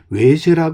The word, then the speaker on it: 왜새: 바로이 외세 마을이 되겠는데요 외세 하는 발음은 원래 와서가 민간에서려는 외라고 이렇게 불려지게 되었었다고 보시면 되겠고요 그래서이 현이라고 하는 와고에